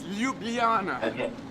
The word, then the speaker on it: Ljubljana: how to pronounce it the the JS are wise so it's Ljubljana always I've played there a few times I was there with you and I could hardly pronounce it being dyslexic I had a great difficulty pronouncing it every time I said it but it's a why just imagine a why yeah and do you